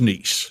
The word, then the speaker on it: Kniess: went and won no my last name is pronounced niece right so n's n